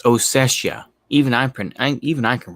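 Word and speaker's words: Ossetia: Georgia of of southern Osetta. Uh, I never pronounce it correctly. Oetta, I believe it is. There's an I in there. It's Oessia.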